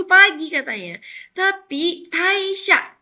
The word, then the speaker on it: 退社: Tapi taisha, ini kan ketemu sama kanji ya, jadi dibacanya tai.